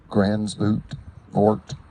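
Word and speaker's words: Gansevoort: Grant Cottage National Historic Landmark in Gransvoort, New York. You can pronounce it G-A-N-S-E-V-O-O-R-T, New York.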